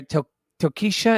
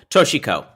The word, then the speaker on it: Toshiko: she says his mother, Tokisha, is that how you say her name? No, that was terrible. Toshiko.